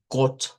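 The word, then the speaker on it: Gott: con incluyendo las dos tí que se lee claro como got con una o corta, no una o redonda.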